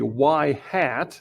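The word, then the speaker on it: ŷ: on the left we have a y hat that's how you pronounce that y hat equals a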